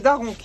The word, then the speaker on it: Da Ronch: Alors, alors ça se prononce, tu me dis si je prononce bien, c'est Daronche? Non, c'est Daronc, italien.